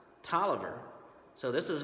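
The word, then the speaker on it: Taliaferro: times one version is talia farro another one is tala farro but this fellow during the Civil War his last name believe it or not was actually pronounced Tolliver so this is William Tolliver then we have Lewis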